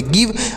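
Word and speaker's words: give: अगर देखिए प्यारे दोस्तों, अगर कोई शब्द है उसके लास्ट में जो ई लिखा रहेगा उसका उच्चारण हम नहीं करते, यानी कोई शब्द है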